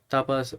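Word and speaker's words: tapa: तापा बोलो या ताफा, तापस हो सकता है फ्रेंच, सॉरी, स्पेनिश लैंग्वेज में कुछ और बोलते हो। हालांकि ये लिखा हुआ है ना स्पेनिश प्रोनाउंसिएशन तापा।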